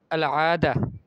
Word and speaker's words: العادة: فالأخرى تقول لها هذه لهجة أردية فقولي العادة. دعي عنك هذه العادة بالتاء المربوطة. جيد.